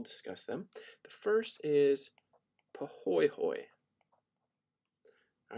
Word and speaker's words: pahoehoe: them the first is pohoyhoy all right it looks like pahoehoe but it's actually pronounced pahoyhoy and this is a